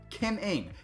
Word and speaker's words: Kim Ng: her name out loud say the word running out loud so running and then replace run with kim kim ing that is her name and if you don't